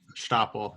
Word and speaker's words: Stapel: Yeah, Stapel. It sounds fun to pronounce.